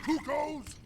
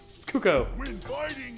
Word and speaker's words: Kuko: Mindless little cuckoos! No monster. That's how you pronounce Kuko. Kuko. They said it. It's canon. It's not Cuckoo anymore.